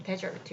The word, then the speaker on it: desert: 자, 일단 맨 처음에 a desert 발음 desert 이렇게 발음해야 됩니다.